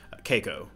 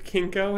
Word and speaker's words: Keiko: What's, how do you say her name? Keiko. Okay, I kept hearing her name was Kinko, and I'm picturing her as a sex clown when she's not in high school.